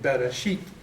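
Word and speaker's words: בְּרֵאשִׁית: So far, what I understand is if that T, or if the taf has a dagesh, it's pronounced as a hard T.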